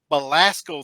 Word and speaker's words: Belasco: Belasco Theater in Midtown Manhattan.